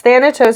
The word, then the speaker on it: Thanatos: yes thanatos is the persification of death okay so that is how it's spell pronounced with the t anyway so he's in